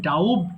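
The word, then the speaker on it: doubt: করা destroy destroyed destroyed ডাউট মানে সন্দেহ করা আর ইউ ডাউটিং মি এটা অনেকে ভুল করে ডাউট বলে ফেলে remember B is silent letter in this word B কে আমরা উচ্চারণ করবো না এটাকে সাইলেন্ট হিসেবে কি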